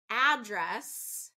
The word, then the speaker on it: address: noun and verb okay noun stresses the first syllable verb stresses the second syllable so let's talk about some heteronym words so address can you give me